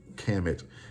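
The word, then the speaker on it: Kemet: transliterated as kmt and they include vowels either the e or the a so it's at times pronounced chemin or kamet k-a-m-i-t which is also the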